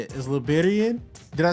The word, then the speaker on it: Liberienne: aloud ah it's it's Liberian so so it's the accent yeah it's um it's the French spelling and pronunciation of Liberian so yeah most people